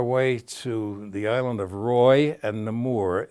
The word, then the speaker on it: Roi: the 23rd Battalion uh Roy is spelled Roi and namore is n mu are these